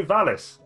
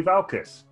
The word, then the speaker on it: Valis: Every week, I say Valis. Every week, you call me Valcis. I'm still going to call... I'm thick as shit, and I'm trying to read a name with a silent L. It's your fault. No, silent C.